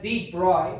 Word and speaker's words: de Broglie: इन 1924 Prince Louis डी ब्रोगली, pronounced as D. Broglie, proposed that on the basis of symmetry existing